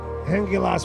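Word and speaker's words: Hengilás: This is uh Hengilas. And yes, that is how it's pronounced.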